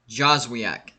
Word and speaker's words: Joswiak: Brian Joswiak. That's how you say it.